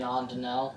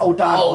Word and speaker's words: O'Donnell: Aiden Ondinell. Yes, O'Donnell. O'Donnell. That's his name, yeah. I pronounced it Ondinell so long because it looks like Ondinell.